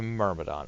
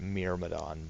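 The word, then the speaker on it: Myrmidon: we'll change over to murmidon or I think it's actually pronounced mirmadon but I've never pronounced it that way so it's kind of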